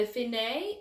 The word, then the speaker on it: fine: alfine means so what that means is the finae means you're finished okay so when you get it's spelled fine but it's pronounced finae so when